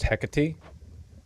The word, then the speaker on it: Hecate: It's pronounced Hecati.